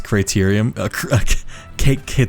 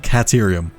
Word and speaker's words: Caterium: I love the extra R you add when you pronounce criterium. Caterium.